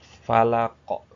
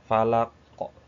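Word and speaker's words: فلق: Kalau ini kita bacanya kolkolah. Dikolkolahkan kalau berhenti, huruf terakhirnya disukunkan jadi kolkolah. Falako, falako, falako. Nah, falako.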